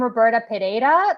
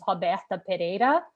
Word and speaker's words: Roberta Pereira: joining us i am roberta pedera that's how i usually introduce myself but i feel in this group of people i can say that my name is hoberta pereira which is actually how i pronounce my name i am originally from